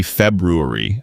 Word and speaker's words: February: Well, technically, it's supposed to be February with that first R sound. But honestly, even a lot of Americans drop it and say February because it's just easier to pronounce.